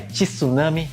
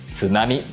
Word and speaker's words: tsunami: as palavras em japonês não é tsunami mas sim tsunami E ontem apresentamos o